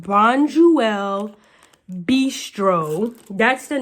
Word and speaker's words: Bonduelle: So it's pronounced Bonduelle Bistro.